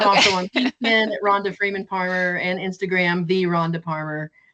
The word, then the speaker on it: Parmer: And if you remember, Palmer rhymes with farmer and starts with a P like Paul.